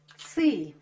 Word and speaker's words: цы: называется ц по церковнославянски ц пишется через ы потому что произносится твёрдо под титулом обозначает букву цифру 900 цы произносила мягко ци яйця курит не утт до сих пор очень многие территории Восточного славянства имеют это мягкое ц Да и по начертанию